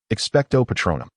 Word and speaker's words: Expecto Patronum: Expecto Patronum. Hermione repeated the incantation, gazing expectantly at Kreena. No, that's incorrect. He shook his head. You must pause in the middle and elongate the final syllable.